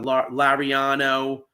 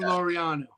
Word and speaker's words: Laureano: for that guy that I was talking about, Lariano? Yeah, I think that's how you say his name. Ramon Laureano.